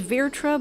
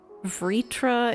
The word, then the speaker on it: Vritra: So is it Vritra? Because people are pronouncing it differently all over the place. I thought it was Virtra, but then... Vritra is what was being said in that Vritra, okay.